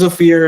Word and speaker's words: Ofir: So, yeah, my name's Oier. It's O like the letter, fear like the emotion.